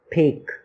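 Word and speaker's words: Phek: migration uh that happens in a district called P okay that's how you pronounce it p h e k so that's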